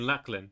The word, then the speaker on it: Llachlan: it's yeah so so say that word again padlock okay okay now say my name luck they rhyme yes thank you was he saying you're saying lacklin I'm going by the